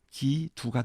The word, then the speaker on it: 基督: 그들의 발음으로는 기두가 되겠죠.